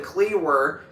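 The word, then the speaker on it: Kliewer: from Lee Summit Missouri Griffin cleer and if you and if you if you if you're interested or maybe you're saying well how's that spilled well his last name is spelled k l i e w e r and he had an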